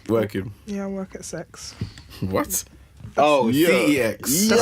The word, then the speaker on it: CeX: I asked them how it's pronounced because I've been saying CEX for ages. It's like sex.